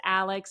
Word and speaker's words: Alyx: My daughter's Alex, it's spelled Alyx.